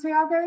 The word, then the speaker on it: Tiago: that very first so it is pronounced three Argo is it yeah but that's that's as good as any way to pronounce my name yes okay well um